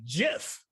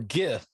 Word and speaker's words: GIF: This man was the creator of the GIF. Or GIF.